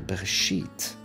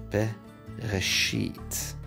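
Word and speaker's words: בְּרֵאשִׁית: First word in the Bible, Bereshit. We have a bait with a dagesh in, which means it's a strong b sound.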